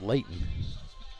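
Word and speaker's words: Leighten: And so they pronounce it Leighton.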